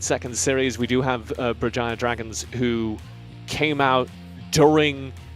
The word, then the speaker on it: Berjaya: Stop me if I pronounce this wrong. Berjaya Dragons playing off against RTZ Underank. It's Berjaya.